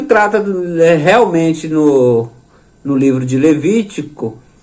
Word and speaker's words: Levítico: Lembrando que é Levítico e não Levíticos.